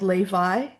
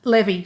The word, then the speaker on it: Levi: So, we were in this little town called Levi. Um, Levy, sorry, Levy. Um, spelled like the jeans label Levi, but said Levy.